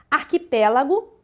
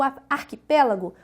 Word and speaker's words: arquipélago: Analisando a questão aqui, o arquipélago, nós vemos que é uma palavra proparoxítona, pois a sílaba tônica está na antepenúltima sílaba.